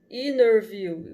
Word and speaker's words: interview: o elogio só aqui quando eles colocam esse essas colchões entre entre uma letra significa que às vezes você não pronuncia então vai ficar enerview com ela falou i